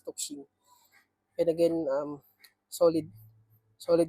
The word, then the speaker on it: Tuxing: So again this this brand is ano toxing toxing yata yung proper pronunciation in Chinese toxing and again um solid